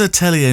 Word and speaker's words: atelier: It's atelier, isn't it? Atelier is the correct pronunciation.